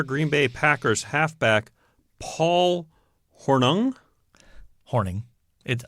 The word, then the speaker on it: Hornung: Bay Packers halfback Paul hornung horning it I know it doesn't look like that but it's pronounced horning oh and Detroit Lions